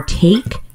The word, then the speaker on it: take: When we see an E at the end of a word, it often works together with the first vowel to spell the vowel sound.